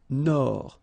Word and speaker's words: Nord: Amérique du Nord. Final D, not pronounced.